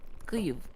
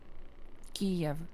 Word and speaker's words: Kyiv: Kiev. Oh, Kiev. I gotcha. Kiev. Kiev. That's the Russian pronunciation for actually Ukrainian city Kyiv. That's how it's supposed to be pronounced.